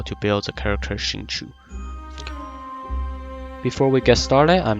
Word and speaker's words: Xingqiu: The correct pronunciation for his name is Xingqiu. So both Xingqiu and Xingqiu are both close enough pronunciations.